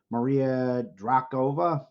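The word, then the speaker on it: Maria Drokova: You actually pronounce it good. But if you change the K if you change the K with the ch, it it means that he was a wonker.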